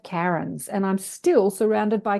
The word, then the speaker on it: Karen: insistent, because I went to school with 5 Karens and I'm still surrounded by Karens, like Karens everywhere. But yeah, I pronounce it Well, Karen.